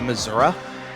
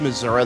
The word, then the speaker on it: Missouri: I mean, it's very funny to me because people get really weird about how you pronounce Missouri depending on which part of the state you're in. The further rural you go, the more you'll get Missouri.